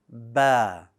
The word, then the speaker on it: ب: Now, the letter Ba, like Alif, is light. Well, that means that the back of your tongue should stay flat when you pronounce this letter, and that's going to allow your mouth to open horizontally, somewhat, right, very subtly, and it will give you a soft sounding Ba.